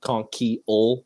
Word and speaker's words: Konkiel: The book Ezekiel, Ezekiel. Now just put a conch in where the easy E would be. Okay. Konkiel. It's actually like pronounced like Konkiel. It's like Konkiel, but it's too crazy.